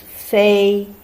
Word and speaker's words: 飞: Pronunciation in Chinese, 飞, full A, 飞 means fly.